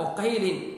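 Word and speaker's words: عُقَیل: یہ عقیل جو ہیں ان کو عقیل پڑھا جائے گا، یہ عقیل نہیں ہے، اس کو پڑھنے کا اس کا تلفظ عقیل ہی ہے، یہ تصغیر۔ اور یہ امام ابن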